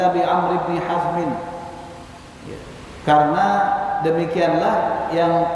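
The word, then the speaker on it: عمرو: Jadi kenapa dibaca Umar, ya, itu pada penulisan yang ujungnya nggak ada waw, tapi ketika di tulisan yang ujungnya itu ada waw, bacanya Amr, ya, bedanya gitu.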